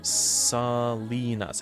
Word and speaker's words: Salinas: That's pronounced Salinas.